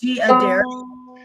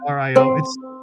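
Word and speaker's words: D'Addario: Is it Mojo Diodario? Yeah, it's D''Dario. Dario. That's how you say it. Addario.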